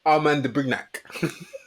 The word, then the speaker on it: Armand de Brignac: Why do you pronounce it for us, Daniel? Armand de Brignac.